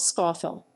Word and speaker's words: Scafell: formally the name was spelled scoffel which better reflects local pronunciation this spelling has declined